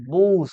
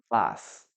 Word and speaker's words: bus: No me vayan a pronunciar bus, por favor, ¿ah? Bus no se pronuncia, por favor. Ok. A ver, ¿qué bus? A vehicle for public transportation, ¿no? Estamos hablando de un bus. ¿En inglés? Vas.